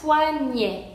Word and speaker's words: poignet: Entonces, una terminación ET se pronuncian E como la palabra poignet, poignet.